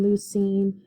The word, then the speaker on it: leucine: And all of these that end in ine are pronounced ene, so phenylalanine, leucine, isoleucine.